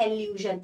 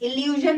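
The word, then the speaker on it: allusion: अच्छा उसके अलावा एक इंपॉर्टेंट पोएटिक डिवाइस जो आपको शायद ना पता हो, पढ़ लीजिए, एल्यूजन। इल्यूजन नहीं है, एल्यूजन है। स्पेलिंग देखेंगे, आई नहीं है, ए है।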